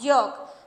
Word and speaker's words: yolk: और नेक्स्ट है यॉक यॉक, दोनों को बिल्कुल सेम बोला जा रहा है, यॉक यॉक, स्पेलिंग बिल्कुल डिफरेंट है, YOKE YOLK।